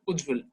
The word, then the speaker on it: Ujjwal: You don't have to change the pronunciation or anything. Ujjwal is Ujjwal.